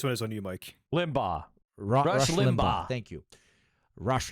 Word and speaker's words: Limbaugh: Limbaugh.